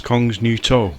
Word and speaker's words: Kongens Nytorv: of it as usual I believe the pronunciation is Kongens Nytorv which translates to The